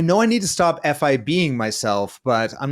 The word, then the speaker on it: F.I.B.ing: Stop F.I.B.ing yourself. Right, Or Gary? you could just pronounce it fibbing. I know. Okay. I'm fibbing, but I like the F.I.B.ing a little bit better.